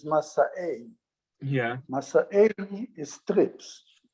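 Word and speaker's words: מסעי: But Masa'e, the real pronunciation is Masa'e.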